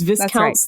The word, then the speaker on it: Viscounts: It's Viscounts. That's how it's pronounced.